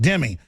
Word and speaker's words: dhimmi: So my dad, who's a big history buff, he goes, shimmy means protected in Arabic, dhimmi, pronounced dhimmi.